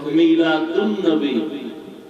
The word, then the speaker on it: মিলাদুন নবী: যখন সন্ধি করে উচ্চারণ করা হবে তখন হবে মিলাদুন নবী। আলিফ লাম লেখা আসবে, পড়ায় আসবে না।